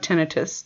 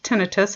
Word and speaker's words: tinnitus: we need to clarify before continuing is the pronunciation of tinnitus it is pronounced tinnitus it's spelled t-i-n-n-i-t-u-s it's oftentimes mispronounced as tinnitus